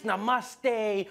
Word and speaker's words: namaste: like dude it's not namaste it's namaste who messes up No Mas this isn't